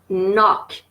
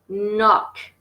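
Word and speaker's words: knock: y voit ses impôts nok encore une fois il ya un coq qui ne se prononcent pas nok soyouz nope under no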